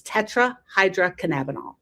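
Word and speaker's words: tetrahydrocannabinol: It's tetrahydroinabonol.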